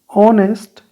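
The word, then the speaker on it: honest: ऑनेस्ट, ऑनेस्ट नहीं होता है, ऑनेस्ट होता है।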